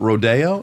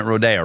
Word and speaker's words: Rodeo: Okay, let's start in the suburb Rodeo. Is that where you grew up? Yeah. And we're pronouncing it Rodeo, right? It's not rodeo.